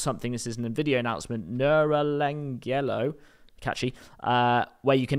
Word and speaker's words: Neuralangelo: this isn't video announcement neuralangelo catchy uh where you can now Angelo there's Michelangelo but neural that's definitely how you say it um yes two